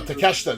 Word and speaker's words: Takeshita: Eddie Kingston fighting Kenosuke Takeshita. I said it right this time. That's a good match. Takeshita. Well, Takeshita is one of the best. No, Takeshita.